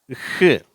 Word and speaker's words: who: அங்கே அந்த வுன்ற உச்சரிப்பே வராது.